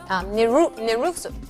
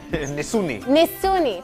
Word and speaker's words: Nisuni: But tell me about the lyrics in the song, especially your title album, Nirusu. I didn't say it right. Nisuni, thank you.